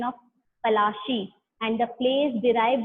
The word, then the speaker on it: पलाशी: उनके जो प्रोनाउंसिएशन थी, उन्होंने पलाशी को क्या बोला? उन्होंने बोला प्लासे, ठीक है। इस वजह से ये जो बैटल है, ये प्लासे जो है, नाम प्लासे पड़ा उनकी प्रोनाउंसिएशन की वजह से।